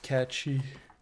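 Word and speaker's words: cait sìth: Caitsith. Pronounced catchy.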